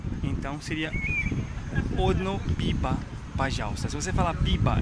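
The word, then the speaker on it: пиво: É, termina, se escreve P-I-V-O. Então, o V tem som de, V, de B, mas mais ou menos parecido com o espanhol. E o O tem som de A.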